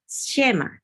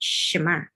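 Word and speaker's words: שמע: sini ada sa ya karena sa itu adalah sebba silent maka membacanya Sha Jadi bukan shema tapi shma kemudian isent Israel SM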